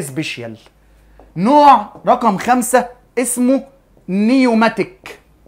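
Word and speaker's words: pneumatic: نوع رقم خمسه اسمه نيوماتيك والنيوماتيك البي السايلنت ما تنطقها بنب بنبدا على طول النطق من اول ال ان يعني البي سايلنت نيوماتيك وهذا العظم النيوماتيك ببساطه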